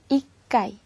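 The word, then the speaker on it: 一階: 1 번호로는 카이를 넣어서 셉니다 자 그 다음에 발음의 주의할 부분은 4 군대 인데요 먼저 첫 번째 1층이 줘 1층은 일본으로 이 까이 이 까이 초기 있네요 그 다음에 3층에는 타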